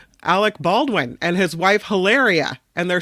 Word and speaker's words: Hilaria: Hilaria. Am I saying it wrong? Hilaria. No, you're saying it right.